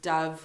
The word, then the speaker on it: dove: so that's the first Dove meaning uh the second one dove so it sounds very much like an o in there okay Dove and Dove